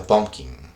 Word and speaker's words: pumpkin: Eso se pronuncia pumpkin. Pumpkin. Pumpkin. Esta U suena como Pumpkin. si fuera una O.